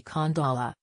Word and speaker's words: Khandallah: From his research, the correct pronunciation should be Khandallah, with a pronounced H.